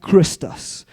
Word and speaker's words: Christus: But more importantly, he writes about a man called Christus. Now, I'm saying it in that way because back then they wrote in Latin. and the way you pronounce it is a bit different, right?